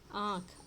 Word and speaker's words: आँखें: फिर आ गया दीवार दीवारें, झील झीलें, आँख आँखें। अब ये जो बिंदी लगी है इसके कारण आँखें ऐसा इसका उच्चारण हो जाएगा, आँख आँखें, ए का उच्चारण होगा, झील झीलें, है ना, दीवार दीवारें।